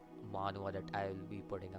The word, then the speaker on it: manhwa: have plans for you guys the next like manhwa that I will be putting out.